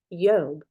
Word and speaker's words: Job: that we're used to but it would be yob the J's basically revert to A A Y